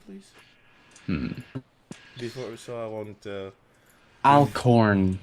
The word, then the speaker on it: Alcorn: Alcorn, like A-L, Al? then corn. What's it? Alcorn. A-L corn. Yes. C-O-R-N.